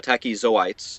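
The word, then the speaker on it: tachyzoites: oyes need to kill the tachis sites uh tachis zoites is how you say it and uh that's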